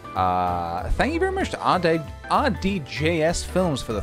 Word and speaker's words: RDJS Films: Thank you very much to RDJS Films for the 3 months, dude. 3 months. OMG, heck, great. Also, PJ, my ath is pronounced RDJ's Films, like Robert Downey Jr.'s, but not RDGS Films.